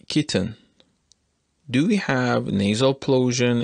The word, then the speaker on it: kitten: we want to use glottal stop in the pronunciation of this word we should say kitten kitten this is the usage of close to the